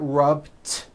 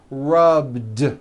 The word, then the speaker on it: rubbed: All I did was was add a voiced D sound at the end. Rubbed. It's not rubbed with an unvoiced T. It's rubbed like that.